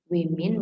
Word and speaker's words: women: Ketika kata woman saya ganti menjadi women, berbentuk penulisannya adalah menggunakan e di sini, women bacanya, makanya go tetap go.